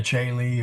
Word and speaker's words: caeli: In classical Latin, there is a difference, but in ecclesiastical Latin, the AE and the OE are identically pronounced.